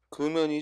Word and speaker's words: 금연: 맞지 않는 것 했어요 금연이 적으면 음 금년이 아니고 금연 이고요 우리가 이혼이 첨가되는 년이 첨가되는 단어는 금융이 줘 금융 흑룡의 경우에는 흑룡 의원 이참 가 되거나 또는 금 융 아고 그렇죠 두가지 말은 모두 세고 금연은 그대로 소리나는 대로 금연 하고 발음을 해야 되구요 정답 운율과